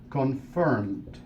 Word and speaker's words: confirmed: Agregamos la ed, confirmed. Confirmed. Dos sílabas, confirmed.